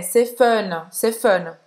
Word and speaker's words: fun: É como se fosse o som de uff. C'est fun, fun. É, você faz a boca do O, certo? E fala é. C'est fun.